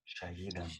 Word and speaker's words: شهيد: The E is short. Look, and also you have both, like Tahir, Shahid. See, after each other. Shahid has a long E, Tahir short E.